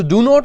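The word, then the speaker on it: don't: उसके बाद guys डू नॉट को इंग्लिश में हम डॉन बोलते हैं, डॉन, राइट. डोंट नहीं बोलना, टी प्रोनाउंस नहीं करना, वहां पे फ्लो ब्रेक होता है, राइट.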